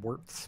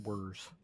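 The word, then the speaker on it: Werz: until she's good also i keep spelling uh worse's name wrong it's w-e-r-z there's no t keep calling him keep calling him calling in warts but it's just words so you spend the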